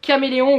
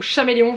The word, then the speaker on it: Caméléon: Alors moi j'ai une grosse boîte de feutre à alcool de la marque Caméléon ou Chaméléon, je ne sais jamais comment ça se prononce, normalement c'est Caméléon, mais je sais pas, bref.